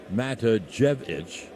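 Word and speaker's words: Matijevic: trevino's head so albion 1-0 this is jj matajevic mata jevich is how he pronounces it he's a left-hand hitter he hasn't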